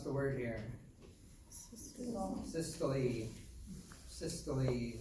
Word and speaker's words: systole: Systole is how to say it.